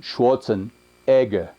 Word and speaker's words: Schwarzenegger: is currently my greatest hero but you Americans mispronounces name it is arnold not Schwarzenegger it is Arnold Schwarzenegger Schwarzenegger farmer he is a black farmer you